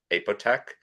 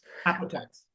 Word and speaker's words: Apotex: corporate affairs, business transformation, and strategic planning at Apotec. Is that how you say it? Apotex? Apotex.